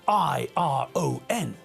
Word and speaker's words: iron: The word is spelled I-R-O-N, but when we pronounce the word, we don't pronounce the letter R.